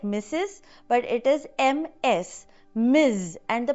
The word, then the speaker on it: Ms.: Miz. And the pronunciation is also different. It is not s like the hissing of a snake. It is z like the buzzing of a bee. Miz.